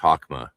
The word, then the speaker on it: Chokmah: weird THs in Kether, the CH in Chokmah, right? You've heard me talk about that, so you understand. It should be better to write it with an H, Chokmah. You'll lead to a better pronunciation standard.